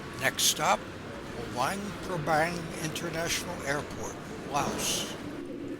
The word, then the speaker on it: Laos: Next stop, Wangbang International Airport, Laos. Locally pronounced Lao.